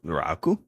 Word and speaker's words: Raku: It's raku. Rau raku. Rau raku. Okay. But if you want to say it like with a Japanese is raku. Rau raku.